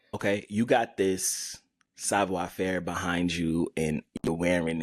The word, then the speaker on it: Savoir Faire: The homie Kamoy J, stylist, entrepreneur, owner of Savoir Faire.